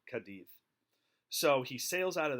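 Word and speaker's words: Cádiz: the port of Cadiz I know it spelled sea ADIZ but Spanish pronounced at Cadiz so he sails out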